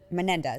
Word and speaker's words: Menendez: Menendez.